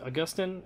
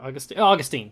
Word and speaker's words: Augustine: He and, is it Augustin? Or Augustine, that's right.